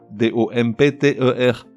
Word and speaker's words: dompter: D-O-M-P-T-E-R. Et pourtant ce P ne se prononce pas, il est muet.